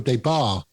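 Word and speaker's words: Des Barres: Michael Debar, that's how you pronounce his name, did the vocals.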